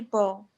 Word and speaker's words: bow: They usually bow. Yeah, and the pronunciation is pronounce it like this. Oops. Same pronunciation. Bow. Yes. Bow now, how?